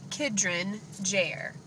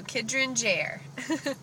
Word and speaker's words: Kidron Jair: Okay, baby's name is pronounced Kidron Jair. That's how you pronounce it. So, Kidron Jair.